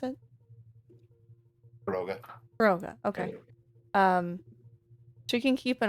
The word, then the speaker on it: Kyogre: I am going to say that Kyogre, Kirgro? Sorry, how do you pronounce it? Roga. Kyogre, okay.